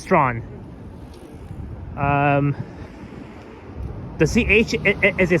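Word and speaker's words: Strachan: So, don't forget it's not pronounced stretch, it's pronounced straw. Um the ch is a silent cuz Yeah, cuz um those those two those two letters ch is silent.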